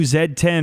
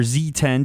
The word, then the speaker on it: Z10: a lot from the new zed10 or Z10 depending on where you are regionally how you want to pronounce that because it has the